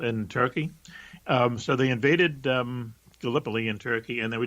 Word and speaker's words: Gallipoli: And what it was is it's actually, I think, pronounced Gallipoli.